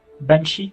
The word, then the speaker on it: Banshee: Si, ça se prononce Chi. Banshee.